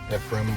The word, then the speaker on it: Ephraim: y see I thought so efim Wisconsin awesome according to the local waitress looks like EP frame there was a singer once upon a time eph frame Lewis that's why I was called ephra spelled the same way what is he doing